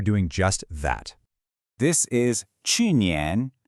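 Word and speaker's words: 去年: This is qùnián, pronounced qùnián.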